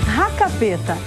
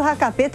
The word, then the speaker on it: Hackepeter: Racapeta. A pronúncia do nome desse prato é bem mais fácil que a escrita.